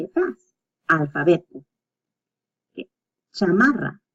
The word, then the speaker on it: chamarra: Chamarra. As you can see, this one has a double R and the CH. So cha-ma-ra. Cha-ma-ra. So the R pronunciation might be a little hard at the beginning, but keep practicing.